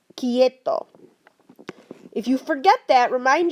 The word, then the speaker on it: quieto: That doesn't happen in Spanish. It's just k. So this would be quieto, quieto.